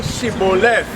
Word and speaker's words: Shibboleth: So notice, he said say Shibboleth. The Shibboleth has a H.